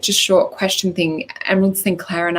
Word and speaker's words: Emyrald: So you'll find that on both our Instagram channels, but her name is spelled EMYRALD Sinclair, so Emerald Sinclair.